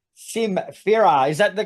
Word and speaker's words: Sym Fera: talking about are called simera is that the correct pronunciation yeah s Farah like Symphony and the word Ferell yeah feral Symphony I